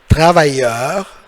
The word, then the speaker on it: travailleur: So, le double L, as you know from first chapter, double L, it's like Y. Il faut la prononcer comme Y. You should pronounce it like Y. C'est pas travailleur, it's completely wrong. It's gonna be travailleur.